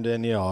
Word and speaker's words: Daniel: I didn't mean to call him Danielle. Apologies to everyone. Daniel Suarez. No, interestingly, in his tough deal. In his language, it would be pronounced, more like Danielle.